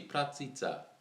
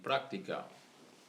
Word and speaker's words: практика: Why you say pratica? It should be practica.